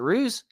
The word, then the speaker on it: Ruse: How do you say your last name? Is it Ruse? the LA well on here. Yeah, it's Ruse, but that's that's short for my full last name, which is Ruseiello.